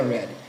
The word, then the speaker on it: read: Nesse caso aqui a pronúncia é read.